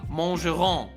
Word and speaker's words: mangeront: No, this one ends with a silent T, not a silent S.